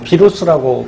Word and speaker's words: 바이러스: 녀석이 누구냐면 바로 이 바이러스죠. 뭐 비루스라고 발음하기도 하고요.